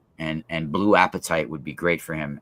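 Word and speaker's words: apatite: it would probably be appetite is a stone not not being hungry it's spelled a p a t i t e and specifically blue appetite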